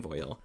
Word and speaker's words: voile: my stained nails so this is voil which controversial pronunciation but i was talking to someone over at cirque actually and she said that she pronounces it voile too that's the english way so i'm gonna keep saying voyel and on screen you're